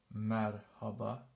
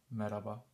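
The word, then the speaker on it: Merhaba: first one the first word is this it's pronounced Marhaba Marhaba Marhaba means hello Marhaba when we when we're speaking fast we usually omit this one so we sayaba without the H meraba or Marhaba it's the same hello a little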